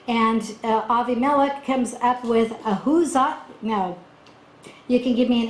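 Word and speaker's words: Ahuzzath: And Avimelech comes up with Ahuzah. Now, you can give me an A or an F for the pronunciation. Ahuzat is close to the Hebrew, and Pichol or Fikol,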